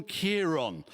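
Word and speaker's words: Ciarán: consensus seemed to be that it was storm Kiron uh which was unfortunate as thousands of Labor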